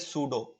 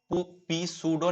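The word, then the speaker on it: pseudo: उसके बाद इसको बोलते हैं सूडो, पी सूडो नहीं बोलते, पी सूडो, पी साइलेंट होता है, इसको बोलते हैं सूडो फर्स्ट ऑर्डर रिएक्शन, आपको अच्छे से जान लेना है।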